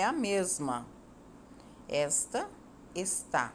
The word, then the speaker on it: está: tônica é o és e esta Jana palavra está a sílaba tônica é o tá e observe as